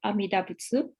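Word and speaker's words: Amida Butsu: first the Mantra of amidabutsu um it seems that when this Mantra is recited in Japan often the last syllable um TSU is dropped but today I follow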